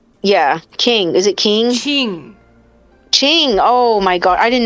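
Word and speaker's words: Qing: king wait well yeah king is it king ching oh my god i didn't know that's how you pronounce it oh my gosh i've been pronouncing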